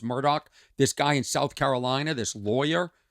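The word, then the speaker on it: Murdaugh: Yorker about Alex Murdoch it's spelled uh m-u-r-d-o-u-g-h I think but it's pronounced Murdoch this guy in South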